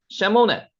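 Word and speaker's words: שְׁמוֹנֶה: 쉐모네, 여덟이라는 뜻입니다. 쉐모네, 여덟. 자, 천천히 할 때 한번 읽어보셔도 좋습니다. 쉐모네. 요거 읽으실 줄 알겠죠? 앞에 가면 요 두 개가 에 발음이 나네요.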